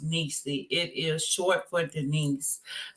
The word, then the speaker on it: Neecy: I want to say that my nickname is pronounced Neecy.